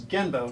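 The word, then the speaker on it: 現場: what is it well it's GE MBA but that's really an English version of a Japanese word which is gembo spelled with an N gamba means the place where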